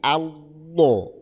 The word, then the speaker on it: Allah: Allah itu lafalnya makanya cara membacanya lidah itu tetap nempel ke ke seri itu tapi dibaca tebal la alla jadi Allah Allah nah kayak gitu Allahu